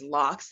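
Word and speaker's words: locs: general so the name of this style is lox and that's spelled l-o-c-s my hair unfortunately it is a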